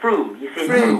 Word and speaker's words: Frome: from last year actually is it froome don't say from yes sorry it's my accent no no you didn't know you said it right first time you're well done i've